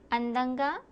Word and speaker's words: అందంగా: అందంగా Andanga?